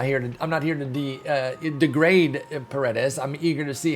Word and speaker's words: Paredes: I know it says Isaac there for most of y'all, but it's actually pronounced Isaac Paredes, and he is the Tigers' Team Affinity 2 reveal.